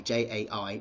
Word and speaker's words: Jai: My middle name is J-A-I, which I know is pronounced Jai, but I liked it pronounced J, and that means Victor.